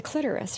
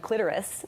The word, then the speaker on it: clitoris: I think Jerry Seinfeld really messed a lot of people up when he did an episode rhyming it with Dolores. It's like, no, it does not rhyme with Dolores.